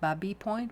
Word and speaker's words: Baby Point: live next to it's called baby point or actually technically pronounced Barbie point because it was a French explorer it was a village